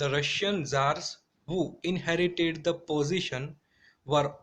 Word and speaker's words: Tsar: यहाँ पर जार का स्पेलिंग है CZAR और TSAR, बट जब भी हम प्रोनाउंस करेंगे तभी हमें क्या बोलना है? जार.